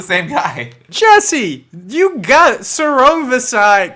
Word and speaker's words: Sor Rungvisai: Listen to the dulcet tones of the king of Salvadoran strong style, giving you the correct pronunciation. Sor Rungvisai.